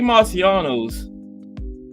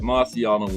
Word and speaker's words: Marciano: Now, Rocky Marciano changed his name. It was Marquisiano or something, but he thought Marciano was more simpler for the ring announcers and the sports writers and stuff to pronounce. Marciano. So it went from Marquisiano to Marciano.